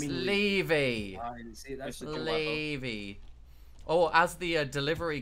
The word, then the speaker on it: Levy: It's Levy.